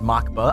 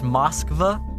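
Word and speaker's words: Москва: I believe it's not really pronounced Makba. I was told it's pronounced Moskva. I think Moskva. Obviously, like, you know, making it sound more Russian.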